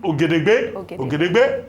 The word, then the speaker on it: Ogedegbe: Austin Ogedegbe, that's the correct pronunciation.